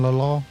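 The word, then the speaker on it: L.A. Law: It's LA Law. But Oh. Oh. I say it that way because of an episode of The Golden Girls where Rose pronounced it La Law.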